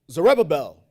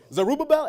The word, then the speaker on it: Zerubbabel: Did I say his name right? Zerubbabel. I did. Zerubbabel. Damn, that's Zerubbabel? Zerubbabel? I like that word. Zerubbabel. I put the U in it. So Zerubbabel. Yeah, that sounds better. He first sent Zerubbabel, right, to fix the infrastructure.